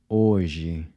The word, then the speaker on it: hoje: So the “j” is pronounced like the /ʒ/ sound in the word “measure”.